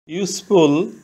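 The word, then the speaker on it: useful: thing ইউজফুল অর্থ উপকারী ইউজফুল এর প্রথম অক্ষর ইউ ভাওয়েল এখানে ইউ এর উচ্চারণ ইউ এর মতন হয়েছে শব্দের প্রথমে ইউ থাকলে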